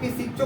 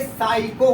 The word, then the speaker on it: psycho: कुछ लोग कुछ बोलता है, तो ये पिसिचो कुछ नहीं है, ये साइको हो गया। यहाँ पे देखिए एस से पहले आया हुआ पी है, एस से पहले आया पी है, हमने पहले मेंशन कर रखा है एस से तथा एन के पहले क्या होगा, पी साइलेंट होगा, या पी बिल्कुल खत्म हो गया।